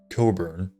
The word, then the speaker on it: Cockburn: In February 2004 in Scotland, Craig Coburn, it's spelled Cockburn, but it's pronounced Coburn, was unable to use